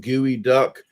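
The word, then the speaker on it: geoduck: it called the geo it's spelled geo but they call it gooey duck i've never had that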